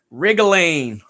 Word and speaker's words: wriggling: it is a W there is a silent W on the word Wrigley other than that silent W it's just as its sound rig go lean first-person type in the chat below gets a high-five virtually from mr.